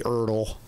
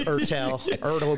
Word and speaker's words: Ertel: e r t l often people call me erle it's erel erle the turtle is